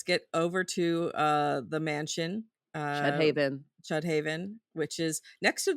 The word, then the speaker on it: Chüdhaven: and then, but also the way it's spelled is with an umlaut over the U, and so it's like Chüdhaven, kinda thing, like, it's supposed to be fancy, but you're like, even